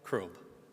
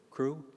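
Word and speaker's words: Krob: Crob. Crew. Crob. Yes. Can you spell that?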